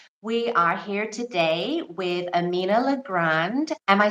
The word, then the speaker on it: Amina LeGrand: we are here today with Amina L Grand Am I saying it right Amina L Grand yes that's how you say it that's how you pronounce it thank you thank you okay so